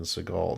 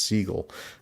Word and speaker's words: Seagal: and he came back from the art exhibit and he said from now on his name would be pronounced Steven Seagal. Now prior to that he had actually been pronounc it had actually been pronounced seagull.